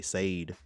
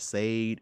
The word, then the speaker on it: Sade: I used to say Sade. They're like, yo, man, Sade is good.